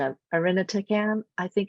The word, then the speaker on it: irinotecan: And the first one, which I always munch the pronunciation of irinotecan, I think it's pronounced, or irinotecan.